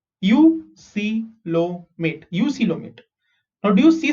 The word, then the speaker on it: eucoelomate: Next, eucoelomate. Okay, how do you pronounce this? EU is U, C is C, LO is low, MAT is mate. Eucoelomate.